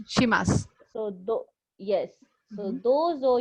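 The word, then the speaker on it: します: So dozo Dozo yoroshiku yoroshiku onegai onegai shimasu. shimasu. So the Okay. last word is, don't pronounce the last word as shimashu. It is shimas only. The last u is silent. Right. Okay. It's shimasu.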